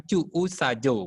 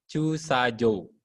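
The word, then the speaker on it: 駐車場: gitu toiletusajo parkiran kantin-kantin cusajo cusajo bukan cuuajo bukan begitu ya cusajou Jou kan J Nah itu pengucapan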